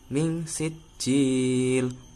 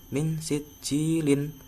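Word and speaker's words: من سجيل: Jadi bacanya min sijil, bukan min sijilin.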